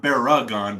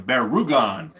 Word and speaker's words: Baragon: of has elements of baragon or bear rugan sorry not bear again bear rugan gotta get those pronunciations right but um yeah zeddus